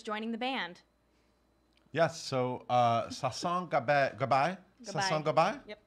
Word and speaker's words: Sasson Gabay: So Sasson Gabay. Sasson Gabay? Yep. Say it every which way, and one of them will Caitlin be right. Caitlin taught me how to say it right before Sasson Gabay.